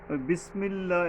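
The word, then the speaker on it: بسم الله: আলিফ টানতে হবে বিসমিল্লাহ এই যে সিন এখানে সাবধান বিস বিসমিল্লাহযে পাতলাভাবে বিস সিনটা নিচের মাঝখানের দাগ থেকে পাতলা ভাবে অনেকটা কিছুটা বাতাস বের হয়ে যাবে এইরকমের পাতলা ভাবে হবে যেটা সওয়াদটা হবে শক্তভাবে বিসমিল্লাহির এইযে বিসমিল্লাহ এক আলিফ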